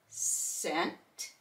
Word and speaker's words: scent: rhyme and r Rhythm SC c c is silent we're going to hear the s in Scent scene science and then